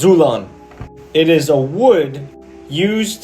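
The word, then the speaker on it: ξύλον: It's pronounced Zulon.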